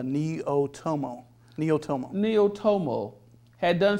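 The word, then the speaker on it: Neaotomo: viewers and the readers how do you pronounce that neo n-e-a-o-t-o-m-o it's a neo-tomo neo-tomo neo tomo had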